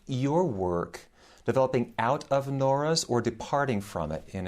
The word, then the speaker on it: Nora: French intellectual Pierre Nora, or Nora to give it its French pronunciation, called the lieu de mémoire, translated either as sites of memory or realms of memory.